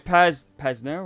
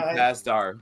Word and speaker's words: Pasdar: And also you got Adrian Pasnero. How you say his name? Oh, Adrian Pasdar.